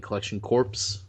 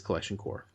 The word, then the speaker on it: Collection Corps: Thank you for putting up with me saying Collection Corpse for so long, but it is Collection Core. Even though I still feel like they should just spell it without a P.